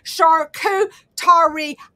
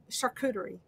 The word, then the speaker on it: charcuterie: can tell like we're oh thank you michelle sharkoo tari got it charcuterie thank you i knew this spelled out for me i was close i